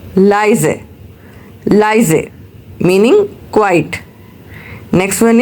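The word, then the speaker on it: leise: Next one इज़ लीज़ sorry it's नॉट लीज़ इट्स बिट a confusing but you should know that if we have spelling of एल इ आई। सो इट्स अ लाइजे।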